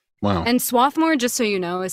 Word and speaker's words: Swarthmore: that's right wow and swathmore just so you know is spelled s w a r t h m o r e but when you're from there the r is silent but if you're not